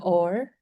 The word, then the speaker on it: Aur: It's called Aur, A-U-R. It's a Hindi word that means and, but it's pronounced like the English or.